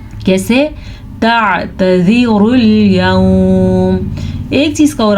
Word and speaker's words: تعتذروا: لا الف مدہ تعتذروا عین کے تلفظ کا خاص خیال رکھنا ہے اور اس تا کو یا زال کو لمبا نہیں کرنا. کیسے تعتذروا اليوم.